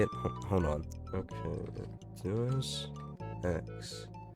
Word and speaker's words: Deus Ex: Okay, Deus Ex. Deus Ex.